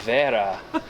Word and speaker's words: Wera: exciting every time okay think about how a German would pronounce it there Vera tool check very nice